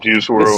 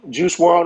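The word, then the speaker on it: Juice WRLD: I always say his name wrong. That's important. Juice The World. second part, Juice World.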